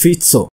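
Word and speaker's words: Fico: it it's spelled f f i o it's pronounced fito this is collect this report or this news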